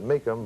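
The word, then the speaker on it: Mecom: He pronounces it Meckham, but I don't know.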